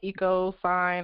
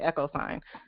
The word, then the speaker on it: EchoSign: Well, I mean, what you're saying, it's an agreement, and you can create it in like EcoSign or something. I think EchoSign is the right way to say it.